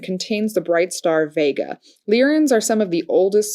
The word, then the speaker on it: Lyran: I also identify with Li rien starseed I mispronounced that it's leerin it's not Leary in it spelled ly ra n leer in star